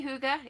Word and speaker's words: Hygge: helping us to hear the pronunciation of Hygge. You can just say Hygge. It's just fine. You don't have to try to say it just like a Dane or a Norwegian would.